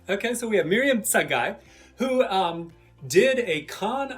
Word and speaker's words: Tsegaye: who knows how to say it yes it's a guy what's that guy okay so we have miriam sangai who um did a khan academy um contest